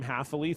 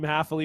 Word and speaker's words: Hafele: yellows uh so yeah team haffili thank you for the gentle correction of my pronunciation of her last name uh team hafele will play the winner of